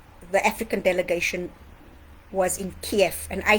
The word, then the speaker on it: Kiev: African delegation was in Kiev and I say Kiev because when you look at the Cyrillic way it's written that's how you pronounce it I'm studying Russian at